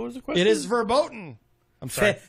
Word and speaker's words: verboten: the question it is verboten I'm sorry fat button is that a CV is pronounced like an F I can't pronounce my